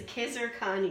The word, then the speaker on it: Khizer Khani: Hi there, my guest today is Khizer Khani. Is that how you pronounce it?